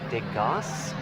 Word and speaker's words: DEGAS: DEGAS? as in the painter?